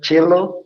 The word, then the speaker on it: cello: Is that cello? Yeah. How did you know that? You have to say it like a ch.